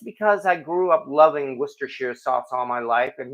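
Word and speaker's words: Worcestershire: she's adopted and nobody told anyone I'm joking wash your sister's sauce I could get out some of that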